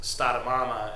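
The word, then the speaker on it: stara mama: From my anecdotal perspective, in Slovenian, grandma and grandpa are actually pronounced stada mama and stadiata, and mama and ata literally mean mother and father.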